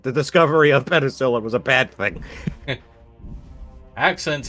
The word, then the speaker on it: penicillin: Penicillin, not penticillin.